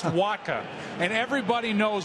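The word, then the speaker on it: Wacha: even know how to pronounce his name it's pronounced Waka and everybody knows w around baseball now and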